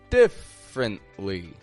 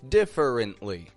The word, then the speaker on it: differently: uh differently differently now I notice a lot of non-native speakers will say differently differ differently instead of just a quick different differently differently differently what's the difference there well there's a letter in the middle that I'll hear non-native speakers say which native speakers will typically skip altogether just because it's so unstressed and quiet we're going to look